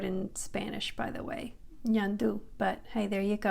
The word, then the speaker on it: ñandú: The letter N is just like in English, N, but Enye is pronounced Ny, Ny. Almost like when you say onion or canyon. In Spanish, the letter Enye is Ny, Ñandú.